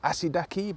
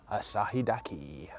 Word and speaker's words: Asahidake: I did think that the Japanese pronunciation of Asahidake was maybe shortened to Asidake, but we had a Japanese guide yesterday and he did add in the H, so I think it is Asahidake.